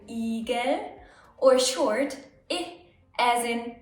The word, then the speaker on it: Igel: I can be pronounced long, I as in Igel, or short, I as in ich.